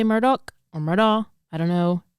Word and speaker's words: Murdaugh: But they even specified in the trial that you can say it any way you want to say it. Okay. Just based on your accent. So I might say Alex, and I might say Murdaugh or Murdaugh.